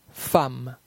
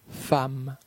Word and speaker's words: femme: La lettre E dans la combinaison de lettres EMM se prononce comme un A. Femme, femme.